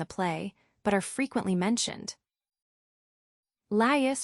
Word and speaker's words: Laius: Laius, pronounced as 3 syllables, Laius, the last king of Thebes before Oedipus.